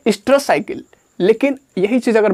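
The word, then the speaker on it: oestrous: और स्ट्रेस का ध्यान दीजिएगा, ओ से स्टार्ट होता है, ओ साइलेंट हो जाता है प्रोनाउंसिएशन में, स्ट्रेस साइकिल।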